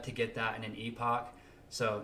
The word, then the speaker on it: Epoch: get that in an Epoch so not two but you know to get like eight to ten in an Epoch epic it's pronounced epic uh so people that